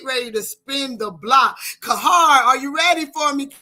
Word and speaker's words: Qahhar: Kahar, are you ready for me, King?